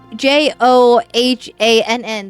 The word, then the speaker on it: Johan: What question is I say J O H A N. That's pronounced Johan, right? Am I saying this man's name correctly? Hit the second syllable harder. Johan. Okay. Johan. Johan. It's German.